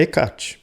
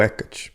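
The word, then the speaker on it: Hécate: deusa mais famosa né a ekat ou ecat pronúncia fica como você achar melhor a melino ela é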